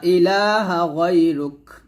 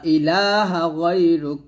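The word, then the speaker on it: إِلٰهَ: সুবহানাকা আল্লাহুম্মা ওয়াবিহামদিকা ইলাহা তিন আলিফ টান দিবেন ইলাহা এভাবে প্রথমে আমরা আল্লাহু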